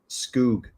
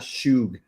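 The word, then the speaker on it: skhug: realizing now that uh that sauce at cava that is spelled s-k-h-u-ug is probably not hug it's probably skoog Le all over that it's probably not shoog that's probably I've probably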